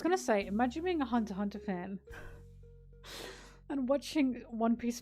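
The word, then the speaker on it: Hunter × Hunter: Why do you call it Hunter Hunter if it's Hunter X Hunter? The X is silent.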